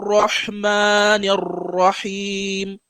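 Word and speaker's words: الرَّحْمَٰنِ الرَّحِيمِ: Bismillahir Rahmanir Rahim. Yeah, many things into this Bismillahir Rahmanir Rahim. So the ra, the fkhim ra. So the ra pronunciation should be, your mouth should be closed.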